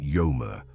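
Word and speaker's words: ויאמר: In modern Hebrew, the word is pronounced vomer, but in ancient Hebrew, the pronunciation would have been yomer, with the W sound, not V.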